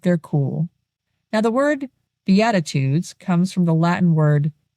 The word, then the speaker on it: Beatitudes: It's biatitudes, not beatitudes like some kind of aggressive jazz band.